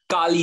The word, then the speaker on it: Kali: Kali, is that how you pronounce it? Akash? Akash. Sorry? Is it Kali? Yeah. Kali? Kali? Okay, wait. Kali.